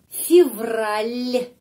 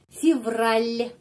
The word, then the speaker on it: Февраль: Januari, Februari, Февраль, l. Я di sini ada tanda pelemah yang melemaskan huruf L. Февраль.